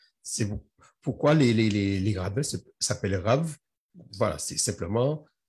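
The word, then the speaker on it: רַב: Mais c'est pourquoi que c'est important de comprendre c'est pourquoi les rabbins s'appellent Rav. Voilà, c'est simplement, c'est le B qui se prononce V, et ça veut dire rabbin.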